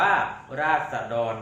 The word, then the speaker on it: ราษฎร: นะ ครับ ต่อ ไป คำ ว่า ราษฎร นะ ครับ อ่าน ว่า ราษฎร นะ ครับ หมาย ถึง